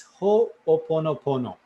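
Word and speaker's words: hoʻoponopono: here's how it goes you know like Hawaiian words they have very little in terms of syllables and they basically use the same syllables to do many different words so anyway here we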